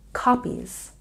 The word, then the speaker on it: copies: back to check pronunciation copies has a stress on the first syllable copies copies and participants has